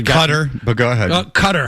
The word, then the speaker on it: Qatar: Qatar, however you pronounce it. Well, you pronounce it Qatar.